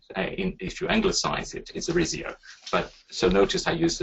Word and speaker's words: Arizio: So say it in 4 parts, meaning the concept of syllable, more energy in the second part, roll the R, but very softly, and the letter O will sound like book.